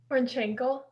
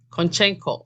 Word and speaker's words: Konchenko: Konchenko. Konchenko. Oh, Konchenko. Yeah. You know, it sounds like there's a Maasai name for it's pronounced the same, Konchenko, but that's not how it's spelled.